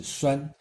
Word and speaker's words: 栓: 这个 " 栓 " 字读音是 " 栓 ”，就是门栓的 " 栓